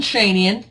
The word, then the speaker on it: Schoenian: minutes I think uh my name is shenan there's how you say it so I'm the sheep